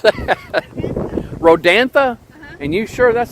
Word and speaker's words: Rodanthe: Rodanthe? And you sure that's how it's pronounced? Yes, there was a movie called Nights in Rodanthe. Okay, Rodanthe.